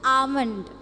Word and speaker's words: almond: is the pronunciation of it's almond okay the sound is not a it is ah ah L is silent okay so so here